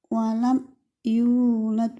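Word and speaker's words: ولم يولد: dengan ya walam yulad walam yulad bacanya jelas ya teman-teman karena dibaca Idhar Idhar itu jelas tidak tidak mantul tidak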